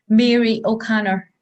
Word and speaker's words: Mary O'Connor: you say your name sorry i had music mary o'connor could i cry did i say that yes